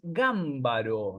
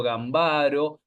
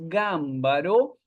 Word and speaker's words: Gambaro: esta autora Griselda y lo voy a pronunciar como se debe pronunciar es gámbaro no yo creo que en clases pasadas he dicho gambaro mucha gente obviamente porque es como se lo ve escrito evidentemente gambaro no pero no la pronunciación correcta es gámbaro es un caso para